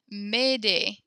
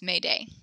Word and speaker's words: Mayday: French Zuni midday come help me cool Olivia made a is how you pronounce that and that sounds exact same as made a so made a is how to help me